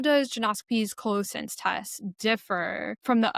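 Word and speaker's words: Geneoscopy: So say again how you pronounce your um genoscopy. Jonoscopy. Okay, I'll go back and Okay. Okay, I'm good. Okay. And my next question for you was about kind of how does genoscopy's colossense test differ from the other colorectile screening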